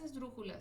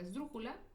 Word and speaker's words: esdrújula: Ahora, las esdrújulas se acentúan cuando terminan, no, siempre se acentúan y en este caso su sílaba tónica está en la antepenúltima sílaba. Por ejemplo, la palabra esdrújula es una palabra esdrújula.